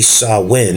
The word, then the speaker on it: Samhain: It's spelled Samhain, but it's actually Samhain is how you pronounce it.